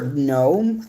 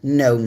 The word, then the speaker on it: gnome: I have a baker gnome I know you're not supposed to pronounce the G but I'm so used to it I sometimes do mistake made the mistake um but it's this a gnome set and it's see